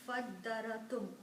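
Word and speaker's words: فَادَّارَأْتُمْ: And you can combine fa with this alif, but do not pronounce alif. Skip the sound of alif. Combine fa with dal. Fad da ra tum.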